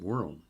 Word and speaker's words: Juice WRLD: I assume you pronounce it World. Juice WRLD.